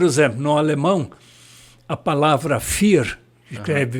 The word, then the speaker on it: vier: É, a pronúncia é F, mas se escreve diferente, né?